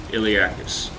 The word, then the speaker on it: Iliacus: Oh, it is a hard C. Iliacus.